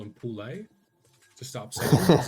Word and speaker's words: Poole: Is it Poole? Is that how you say it? I got a mate with the exact same. Yeah, it's yep.